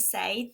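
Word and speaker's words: ça: share and probably the most common is to say this sa SAA means how's it going you'll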